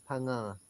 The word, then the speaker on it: Phang-Nga: Phang-Nga, or it's pronounced Phang-Nga.